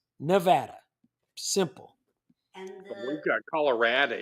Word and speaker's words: Nevada: And I want to pay homage to the people of Missouri, because I hate when people pronounce Nevada as Nevada or Nevada or Nevada or Nevada. It's Nevada.